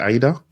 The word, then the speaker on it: Aida: of poems and AA did I pronounce that right is it Aida yeah you pronouncing very well AA yeah Aida